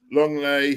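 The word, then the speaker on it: Lenglet: can't pronounce his name it looks like lingley but he's pronounced long layoff Longley okay long late long lay six okay uh you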